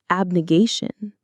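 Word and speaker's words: abnegation: Abnigation. Let's try that one. Abnigation. Abnation. Abigation. The stress is on the third syllable. Gay obnigation is the act of renouncing or rejecting something, particularly something you value or desire.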